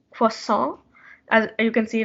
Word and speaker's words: croissant: the first one is you might have heard it as croissant but it's actually pronounced for song as you can see